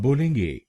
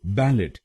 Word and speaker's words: ballet: हम बोलेंगे ए ए इसमें जो टी अक्षर है वो साइलेंट है इसका मतलब है हम इस अक्षर को नहीं बोलेंगे तो हम इसको बैलेट नहीं बोलेंगे हम इसको बोलेंगे बैले बैले बैल ए बैल ए बैले